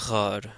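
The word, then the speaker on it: ⲅⲁⲣ: So here we have an example of the gamma actually being pronounced as a r sound. So in this case, this is ghar. Ghar means for or because or in fact. Ghar. So here we have that r sound, the gh sound.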